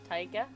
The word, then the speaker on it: taiga: how do you say it there you go Tyga Tyga Oh tundra biome would be interesting yeah